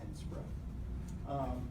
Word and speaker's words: NSPRA: We actually pronounce it called NSPRA.